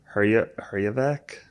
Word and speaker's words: Herjavec: Hejevar. Herjavec?